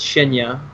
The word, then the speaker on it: Shinya: And now Shinya is actually how you say it. He actually corrected me, thank goodness. It's not Shiny, it's Shinya, my bad.